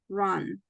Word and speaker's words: run: this one this bir try to pronounce like letter U it's like a letter a run run it sounds like a from Spanish run okay now let's see